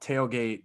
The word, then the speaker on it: TaleGate: But it is called Tailgate, TALE, like folktale, fairy tale.